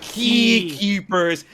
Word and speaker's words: X-Keepers: guy i'm like dude x keepers but it's pronounced key keepers and then that and he's like dude that's